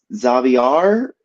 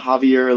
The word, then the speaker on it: Javier: thought it was you Xavier uh right uh actually it's pronounced uh Javier oh okay uh my bad Xavier no problem but it's Javier like Mexico and Spanish Mexico oh I didn't know